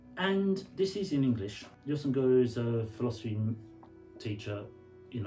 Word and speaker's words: Jostein Gaarder: Jostein Gaarder, I have to say it like that because it's Norwegian and everything is Jostein Gaarder.